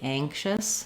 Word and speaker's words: anxious: When I'm getting ready for that ng, it means that my ah vowel will be a little bit more closed, a little bit more nasal. You don't need to change the vowel to say this, but just notice that if I'm saying that can make me anxious, that ang, it's going to sound a little more like an eh, or even a little